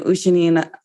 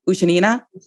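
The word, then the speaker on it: Ushenina: music sisters you have anna ushinina sorry i mispronounced her name ushanina yes so you have anna ushinina who's a former world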